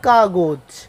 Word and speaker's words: কাগজ: যেমন আমরা বলতে পারি কাগজ, বানান হচ্ছে ক আকার গ বর্গীয় জ, কিন্তু উচ্চারণ হবে ক আকার গ ঔকার বর্গীয় জ, কাগজ।